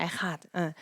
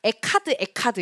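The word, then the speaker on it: אחד: 근데 저희는 이 에하드가 약간 키읔히읗 발음이라고도 이제 알려지니까 저희가 초창기엔 어떻게 발음했냐면 에카드 이렇게 발음을 했어요. 그래서 이제 이스라엘 가가지고 에카드 이렇게 하니까 가선 쌤이 저희한테 에카드가 뭐야? 에하드라고 발음하는 거야. 에하드라고 발음하는 거야. 에카드 아니야라고 이제 저희를 이거 되게 뭐라고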